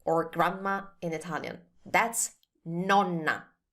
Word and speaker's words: nonna: That's nonna. Nonna.